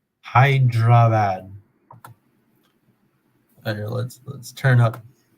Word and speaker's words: Hyderabad: the last 28 days it's 341 coming from hyderabad i i here let's google it let's google